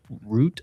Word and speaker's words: Rutte: Also, Trump is about to meet the NATO chief, Mark Rutte, I think is how you pronounce it, R U T T E.